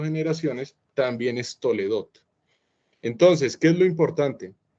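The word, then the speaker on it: תולדות: La palabra orígenes, tal como está puesta aquí en hebreo, se pronuncia Toledot, pero viene de la palabra Toledá.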